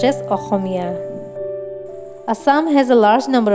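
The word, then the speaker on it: অসমীয়া: the state language and in sms osomiya is pronounced as ahomia assam has a large number of tribes like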